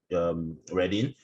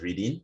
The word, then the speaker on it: Reading: We're named after the town, Reading. And so many people pronounce it as Reading, but it's actually Reading.